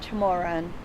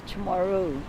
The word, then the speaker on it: Chamorro: No, sir, it's not Chamorran, it's Chamorro.